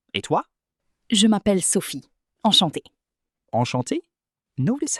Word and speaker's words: enchantée: Yes, and for spelling, since I'm female, I add an extra E at the end, but it sounds exactly the same.